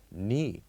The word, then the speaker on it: knee: The third one, or the third example, knee. Here we put K, N, and double E. So we only pronounce N and double E. The K is silent here.